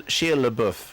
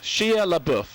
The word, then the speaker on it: Shia LaBeouf: Shia LaBeouf. Shia LaBeouf, okay? Let's go with that for the moment. So Shia LaBeouf is this character who seems just like a